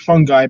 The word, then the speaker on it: fungi: is known as fish and fungi it's spelled fungi pronounced fungi that's pretty dope so I used to